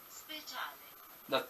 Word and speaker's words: Speciale: No, you're supposed to say it in Italian. So, no, we gotta switch it, right? Yes. Speciale. That's how you say it.